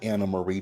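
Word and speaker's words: Annemarie: that woman's esophagus the entire season oh God Anna Marie just got on my nerves that's interesting oh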